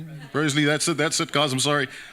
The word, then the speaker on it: Broseley: Broseley, that's it, guys, I'm sorry.